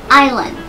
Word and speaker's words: Island: ถูก ต้อง คือ IS Island ไม่ ออก เสียง S หลัก I นะ คะ is ไม่ ออก เสียง S ลืม S ไป เลย นะ คะ Island ไม่ ใช่ Island